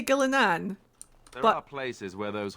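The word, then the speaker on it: Ghilan'nain: with how it's written gillane sounds better to me with how it's written however people in in game do say gilanan there are places where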